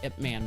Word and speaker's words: Ip Man: Oh, the Ip Man.